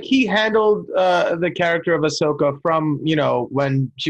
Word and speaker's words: Ahsoka: Yeah, and it is well done, and Ahsoka really Ahsoka, shines in this. Right? The H comes before the S.